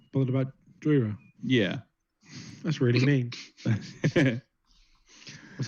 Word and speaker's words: Jhoira: It's pronounced Jhoira.